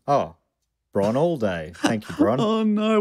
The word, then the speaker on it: Bron Alde: Correct pronunciation. Oh, Bron all day.